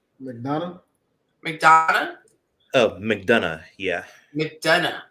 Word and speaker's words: McDonough: McDonough.